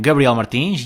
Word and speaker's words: Gabriela Martines: in english i am gabriela Martines yes still pronouncing my name in the portuguese way we are at episode